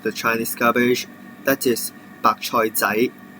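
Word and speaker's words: 白菜仔: And there may be some smaller size of the Chinese cabbage, that is 白菜仔, 白菜仔.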